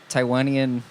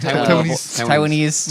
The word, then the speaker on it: Taiwanese: So in the 1920s, Taiwanian. Is that that's how you say it? Taiwanese.